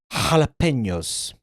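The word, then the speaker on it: jalapeños: Pizza dough, pizza sauce, mushrooms, pepperoni, bacon, olives, onion, jalapenos, tomato, capsicum, Jalapenos. Jalapenos. He pronounced it with the, you know, the Spanish affect, like the pronunciation.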